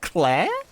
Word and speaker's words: Claire: Based ant, Clar edition. Clar edition? Clar? Text-to-speech doesn't understand how to pronounce Claire? Clar? This motherfucker said Clar.